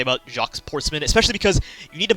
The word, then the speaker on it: Jacques Portsman: I don't have a lot of positive things to say about Jacques Portsman, especially because you need to mispronounce his name to get the joke. Like, his name, it's not Jacques Portsman, it's Jacques Portsman.